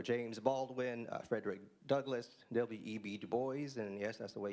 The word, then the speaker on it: Du Bois: Du Bois, and yes, that's the way you pronounce it.